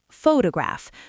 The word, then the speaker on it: photograph: For example, in the word photograph, the stress is on the first syllable, photograph, but in photography, it shifts to the second syllable, photography.